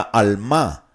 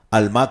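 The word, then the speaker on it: almah: Testamento, sino la palabra almá. Almá que solo se usa en este pasaje y que también significa muchacha. Almá es la palabra como alma, pero con acento en la última a es almá.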